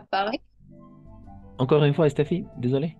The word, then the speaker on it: Paris: Paris. Paris. Le S est muet. Le S est muet. La S est muda al final. Paris.